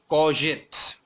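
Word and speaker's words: courgette: Mind the spelling and the pronunciation. Spelling में जी आ रहा है लेकिन इसकी प्रोनाउंसिएशन है कॉजेट।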